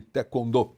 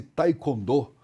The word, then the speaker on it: taekwondo: essa essa prática esportiva falava-se taekwondo mas não é Taekwondo Taekwondo Taekwondo é porque nós precisamos falar exatamente não como se escreve mas sim como os coreanos pronunciam como os o início